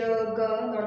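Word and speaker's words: gnaw: You can see the N and G here. It is pronounced as no, while it is written as no.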